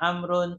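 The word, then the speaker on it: عمرو: Ayub Perhatikan baik-baik ya lihat penulisan Amr ber kalau ada Ain mim ro terus wa bacanya dialah amrun atau Amr kalau Umar itu tanpa wawu Kalau tidak ada waauya membacanya adalah umaru umaru dia harus paham betul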